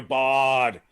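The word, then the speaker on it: Bard: for closers is ridiculous we didn't say daniel bart he's available he's under 60 daniel i'll say it right daniel bodd yes you know he's the closer in colorado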